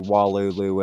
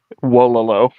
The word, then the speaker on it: Wololo: But yeah, fucking, what is your stance on the unlock switch reaction to Walulu and all that? First off, don't mean to embarrass you. Wololo. That's how you say it.